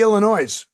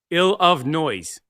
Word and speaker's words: Illinois: How do you say Illinois? Ill of noise. No, it's Illinois. No, it's ill of noise.